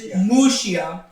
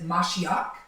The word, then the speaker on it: Mashiach: It is Moshiach. In Hebrew, the word Messiah is Mashiach.